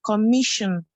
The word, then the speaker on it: commission: The MI, commission. Okay, commission. Very good. Okay, so the stress will be on the second syllable here.